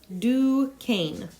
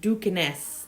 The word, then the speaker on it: Duquesne: will be reading about is pronounced Duquesne do cane it looks like dukaness but it's Duquesne and I have checked